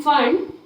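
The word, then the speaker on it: Pfund: next आएगी फंड series लेकिन इसको पी फंड लिखते है जहां प पी हमारा साइलेंट होता है स दैट इज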